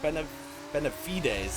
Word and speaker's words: Benavides: Benavides, that's how you say it.